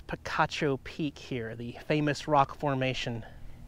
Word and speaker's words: Picacho Peak: said in my video welcome to Pikachu peak because it's spelled very similar but later learned from my loving viewers that it is Picacho Peak here the famous rock